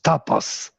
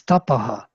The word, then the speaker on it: Tapas: There is no tapas. It's tapaha, tejaha, manaha. Always hu. So this woman in Auroville, Tapas, her name is pronounced wrong, yes? Yes, totally. Absolutely. It's a wrong name I for will tell her, your name is Tapaha.